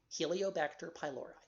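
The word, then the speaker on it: Helicobacter pylori: called Helio vector pylori Helio vector h h e li ba SI te r that's the genus name pylori species named py l Ori Helio bacter pylori and by the way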